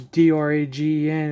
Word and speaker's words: Dragen: It's a D-R-A-G-E-N. It's a Dragen. There's no O.